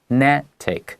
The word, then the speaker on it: genetic: And genetic is the adjective form of gene, 小心, because the pronunciation is pretty different.